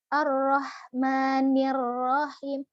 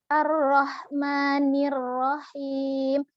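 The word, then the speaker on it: الرحمن الرحيم: alhamdulillahirobbilalamin selanjutnya yaitu ayat ke-3 ar-rahman Rohim arrohmanirrohim air yang sudah saya sampaikan ya pada ayat satu ada ar-rahman rohingya kan arroh rohnya tarqiq eh maaf Arok nyata pun harus dibaca tebal roh hembuskan alirkan nafasnya arrohmanirrohim nirohim ni minyak-minyak tipis dulu jangan sampai ikut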